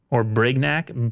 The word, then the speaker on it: Brignac: detective, look up Armand de Brignac, which is Brignac, B-R-I-G-N-A-C.